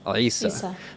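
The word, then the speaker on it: عيسى: And some reading traditions render it as Isa as well. As a non-Arabic speaker, I'm not particularly good at pronouncing that initial ayin, a letter produced in the back of your throat called a pharyngeal consonant.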